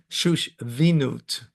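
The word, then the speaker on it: שושבינות: How do you pronounce it? Shushvinut.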